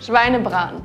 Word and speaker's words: Schweinebraten: Schweinebraten.